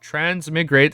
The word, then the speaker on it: transmigrate: to be penic but transmigrate is trans migrate as in migration I know I've been